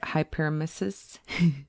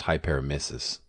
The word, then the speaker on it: hyperemesis: Looking forward, allowing more research in cannabinoid hypermesis syndrome and cannabis generally will alleviate the pains of people all around the country.